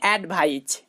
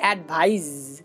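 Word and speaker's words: advise: এটা কিন্তু আপনারা অনেকেই ভুল উচ্চারণ করেন, আপনারা বলেন অ্যাডভাইজ। না ভাই, এটা অ্যাডভাইজ নয়, এটা হবে অ্যাডভাইজ, অ্যাডভাইজ।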